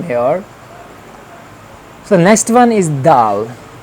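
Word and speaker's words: د: We have to pronounce from here. So next one is dal.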